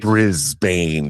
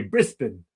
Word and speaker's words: Brisbane: Brisbane. Don't say like that. Thanks for the contribution there. That's the Richard Dreyfuss pronunciation from Jaws. Is it? Brisbane. Brisbane. That's right. It should be Brisbane.